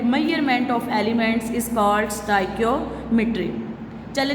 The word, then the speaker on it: stoichiometry: कोई इसको स्टचियोमेट्री बोलता है, कोई इसको स्टाइकियोमेट्री बोलता है। ठीक है? लेकिन आज के बाद आपने इसकी असल वाली जो प्रोनाउंसिएशन है वो है जी स्टाइकियोमेट्री।